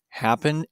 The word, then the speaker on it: happen: example the word happen happen ends in a consonant vowel consonant but the stress on the word happen is on the first syllable so we add Ed